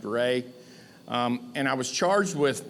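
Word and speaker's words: Reaugh: R-E-A-U-G-H is pronounced Ray.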